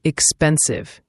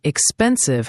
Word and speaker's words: expensive: And expensive has the stress on the second syllable. Expensive. Make sure the V sound is clear, like a buzzing sound.